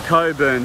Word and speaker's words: Cockburn: or the coburn sound i think we politely call it the coburn sound but it's spelt cop burn sound sound and the suburb is cockburn or coburn as we call it so this is uh